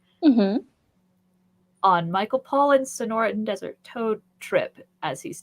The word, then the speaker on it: Sonoran: Sonoran, yes.